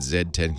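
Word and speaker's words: Z10: get a BlackBerry zed1 I'm told you pronounce that Zed 10 cuz they're Canadian underwhelmed not not not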